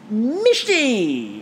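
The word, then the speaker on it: mishti: anyway these showstopper hmm misty misty basically we're told rhymes with Christy sort of basically were talking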